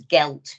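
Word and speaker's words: geilt: Billy but in in in Irish it began with a G and it spoke as gelt but it was spelled very very differently yeah and it was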